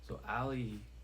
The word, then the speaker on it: Aley: So Ali, which is Ali is spelled ALEY, but for the third page, the third meaning is Ali, which is spelled AELY, which is my conscious mind, right?